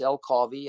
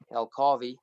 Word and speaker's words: El Carvi: The name of the bicycle is El Carvi, and it's basically a combination of our two names, and you say it like Ferrari, El Carvi.